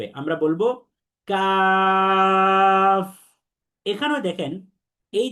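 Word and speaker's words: ك: এবং কাফের মাখরাজ হচ্ছে এই কফের মতোই জিহ্বার গোড়া, তবে জিহ্বার গোড়া থেকে আরেকটু সামনে বেড়ে তার বরাবর যে উপরের তালু আছে, এই তালুর সাথে লাগিয়ে দিতে হবে। তাহলে খেয়াল করেন, আমার সাথে সাথে সবাই উচ্চারণ করি, জোরে জোরে আমরা সবাই পড়বো কাফ।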